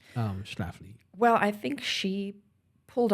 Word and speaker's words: Schlafly: But, unfortunately, Schlafly, I never say her name I think correctly. it's Schlafly, and the only reason I could say that fairly fluently is there's a famous St. Louis bear by the same name.